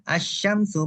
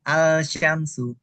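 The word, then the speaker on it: الشمس: ya asyamsu ya asyamsu Nah ini dibacanya asyamsu Bukan alsyamsu gitu paham ya jadi alif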